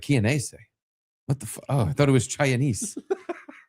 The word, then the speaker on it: Chianese: Fucking Dominic Chianese, who I thought his name was pronounced Chinese because it's spelled like Chinese with an A in it. And it's the first time I ever heard someone else say his name because I've only ever read it.